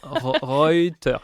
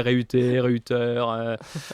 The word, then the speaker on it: Reuter: Non, Reuters, attention, ouais, Reuter, À la française. à la française, Reuter, ouais, c'est un peu compliqué.